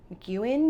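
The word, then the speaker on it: MacEwan: Uh and so for her schooling, she has her acupuncture diploma from Mcuan University in Edmonton. Did I pronounce that right?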